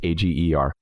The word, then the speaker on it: Ager: I think it's pronounced Egger or Auger. It's Ager.